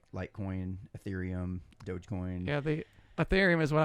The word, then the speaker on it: Ethereum: got done, and he was talking about that Ethereum.